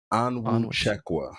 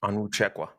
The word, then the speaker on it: Onwuchekwa: for the listeners out there that have seen you on social media, you want to give them the definitive pronunciation here? Onwuchekwa. Onwuchekwa.